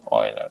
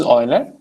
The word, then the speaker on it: Euler: Okay, the way to read this is Euler. Okay, instead of just writing, I don't know, people come up with crazy pronunciation. Okay, so this is Euler.